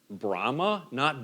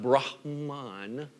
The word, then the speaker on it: Brahma: The 3 of the main gods of Hinduism would be Brahma, not Brahman, right? But Brahma, you just drop the N off the N, B-R-A-H-M-A, right?